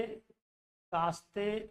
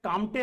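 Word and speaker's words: Comte: तो 1749 में इसको फ्रांस के कास्ते, कहीं कहीं ये इंग्लिश में कामटे लगता है मगर हिंदी में इसका प्रोनाउंसिएशन कास्ते द बफन होता है आपका।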